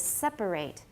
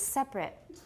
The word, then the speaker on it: separate: The verb is separate. 3 syllables. Everyone separate. Separate. The adjective is separate.